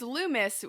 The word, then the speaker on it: Loomis: got the Lumes the Lumes how do I pronounce your guys' last name uh it's Lumis we've been going lumai is the plural the